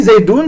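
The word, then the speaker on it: زيد: Quand on dit Zaidoun, c'est dans la prononciation, on on dit zaidoun avec un n sak comme c'est comme c ici. Mais le noun comme comme je dis dans la définition, il ne s'écrit pas.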